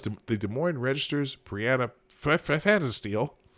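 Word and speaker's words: Pfannenstiel: CNN's Wolf Blitzer and Abby Phillip, as well as the Des Moines Register's Brianna Fanasteel. It's with a P, but I think the P is silent. Fanasteel will moderate the debate at Drake University in Des Moines, Iowa.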